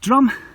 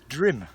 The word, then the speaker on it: Drum: Drim, get in the Welsh. Oh, sorry. U says E. Ah. Like Llandudno. So how do you say it? So it's Drim. Drim. I'm sorry, Andy. I think so anyway. Yeah. This is Drim.